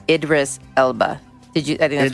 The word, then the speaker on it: Idris: too real fast i idri elba did i say his name right idri elba idris i think it's idris it's i think that was